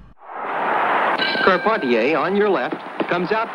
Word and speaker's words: Carpentier: George kept on ta whose name is sometimes erroneously pronounced carpenter told greatest fights of the century that it is called ponte a which he prefers karpati a on your left comes